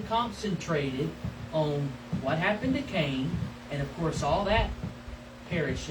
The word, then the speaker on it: Cainan: When Enosh had lived 90 years, he became the father of Canaan. Actually, it's pronounced Cainan.